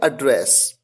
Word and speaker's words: address: आप कहते हैं एड्रेस, और एक और तरीका है जिससे इसको उच्चारण किया जाता है एड्रेस।